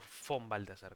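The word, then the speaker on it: von Balthasar: no sé si es Bon Baltaras o o Fon Baltazar, ¿cómo es? Si es con V corta, pero pronunciamos Fon.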